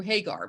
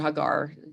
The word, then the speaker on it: Hagar: way they treated hagar i pronounced it hagar hagar i guess is the sort of more american pronunciation but um abraham takes